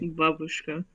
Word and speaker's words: babushka: Babushka. Babushka Yvette. No, babushka. That's how you pronounce it, you dumbo.